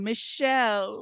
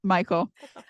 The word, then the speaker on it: Michael: I've tried every other pronunciation. Every other pronunciation out there, I've tried. I said so many different things in my head. Michelle. Like, nope, Michael.